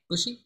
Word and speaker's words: Bucci: Bucci?